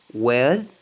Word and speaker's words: with: On dit with. TH, ça se prononce D. C'est comme un D. Ne dites jamais, parce que c'est connu en fait, que les Français disent Z, with. Le Z, le Z. Il n'y a pas de Z. Essayez pas de prononcer th. Th, essayez pas de le prononcer. Remplacez-le par D. Parce que la plupart des Français n'arrivent pas à prononcer th, with.